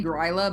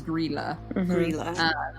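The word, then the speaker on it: Grýla: eats kids okay um i keep wanting to say grila but i looked up the pronunciation it is gorilla so she has the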